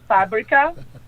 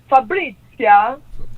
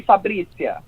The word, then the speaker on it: Fabricia: You try to say my name today, Fabrica. That's like an American way. A lot of people, he comes from, it's an Italian name, so Fabrizia. But in Brazil, we say Fabricia. Fabricia.